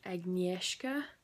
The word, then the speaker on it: Agnieszka: The main character's name is probably the most difficult, but it's pronounced Agnieszka.